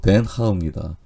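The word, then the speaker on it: Den Haag: 밀사의 그 헤이그에 근데 현지 발음은 헤이그가 아니라 엉뚱하게도 덴 하입니다이 헤이그의 바닷가 해변이 베이란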